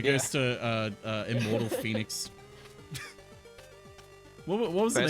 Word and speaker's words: Phenix: it was like a it's spelled Phenix got oh phix yeah I believe it was pronounced Phoenix gotta stupid best game about